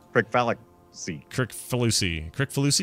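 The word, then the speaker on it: Kricfalusi: Crick Fallacy. Crick Falusi. Crick Falusi? Crick Falusi. That's how you say it, actually.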